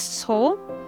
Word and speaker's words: So: In Korean, we pronounce it as So, which phonetically can also be translated to a cow.